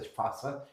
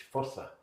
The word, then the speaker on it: Fossa: I have a language expert in the vicinity who usually corrects me when I say fa. He says no it's fossa.